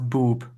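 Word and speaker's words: Bewb: I think that's supposed to be pronounced boob.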